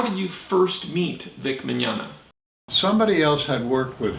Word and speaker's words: Mignogna: And he doesn't pronounce his name correctly, but the name is Magnagna. It's like Ernest Borgnine.